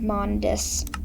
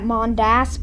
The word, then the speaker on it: Mondas: Mars, and Vortex, and Mondis. I would normally pronounce that Mondas, but, well, yeah. Just kind of want to pronounce it that for the videos.